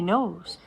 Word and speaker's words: Knowles: Dame knows. Hello. Yes, that is correct. I am the Dame Nose. Silent L actress and presenter active in all genres including film, radio, stage, television, and podcast.